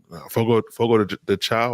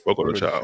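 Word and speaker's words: Fogo de Chão: but yesterday we went out to eat at Fogo de Chao. I think that's how you say it. Fogo de Chao.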